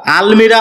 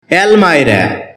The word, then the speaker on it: almirah: অ্যালমা এটাকে আমরা আলমিরা উচ্চারণ করে থাকি যার সঠিক উচ্চারণ হচ্ছে অ্যালমা শব্দটি বাক্যে নাউন হিসেবে